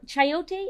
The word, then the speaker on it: chayote: while we make our sauce now this yes chayote is that how you pronounce it yes so i'm going to just